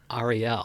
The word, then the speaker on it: Ariel: If you were to run for office and just be hilarious doing it, what would is it Ariel or It's Ariel? Ariel. Yes. Ariel. I've been saying it wrong.